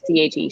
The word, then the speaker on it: Che: many different um like shea gurvera like i don't know how to say his first day but it's che che guevara he wore two